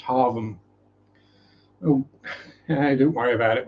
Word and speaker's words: Hargham: So you might think Hargham or Hargham, but no, it's pronounced Harvham.